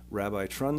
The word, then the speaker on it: RabbiTrun: That's Rabbi Trun, Trun, and other people may pronounce it as Rabbit Run Studios.